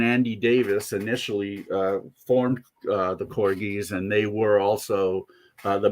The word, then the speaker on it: Corgis: say for many years I pronounced them Corgis because a DJ friend I knew insisted that that's how they pronounce their name, and I thought, they're taking poetic and musical license, so why not? Okay, Corgis. Well, no, it's the Corgis after the dog.